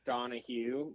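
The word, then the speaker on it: Donohue: on my mom's side it's donah Hugh but it's spelled D o n o h u e so that's that's out because there's like four different ways to spell donah hu so I I I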